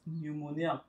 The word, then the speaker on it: pneumonia: So this is pronounced pneumonia. So for many persons, you won't know that it has P.